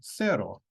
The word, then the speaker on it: cerro: bien problema say Cosa so for C we have two c sounds in Spanish we have a hard C as in Cosa and the soft c as in Cerro the hard C comes before a o and u and the soft C before i and e also the C is